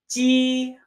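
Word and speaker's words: 鸡: Now, moving on from this, if we add a yo to our meow, you arrive at the character for chicken, pronounced ji, ji, ji, chicken.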